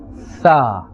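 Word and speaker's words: ث: When we are looking at the letter Tha, this is part of the lithawiyya letters, and this is pronounced from the top of the tongue. Now imagine this, the top of the tongue and the inner edge of the upper teeth. The inner edge of the upper teeth. Tha. So we will not say Sa. Tha. Tha.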